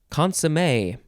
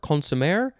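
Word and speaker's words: consommé: It is the word consomme.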